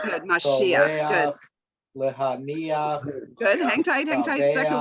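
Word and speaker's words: מָשִׁיחַ: So remember, it'll be ach at the end and the accent will come on the syllable before the end. All right, so number one, go for it. Mashiach. Good, Mashiach, good.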